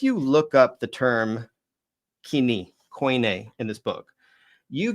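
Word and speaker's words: κοινή: Um what the what coin a when people say coin uh actually means sorry um coin is a linguistic term.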